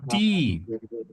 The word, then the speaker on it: die: That is die. D Yeah. D. So it's a combination of E and E. E, E. Yeah, we pronounce E.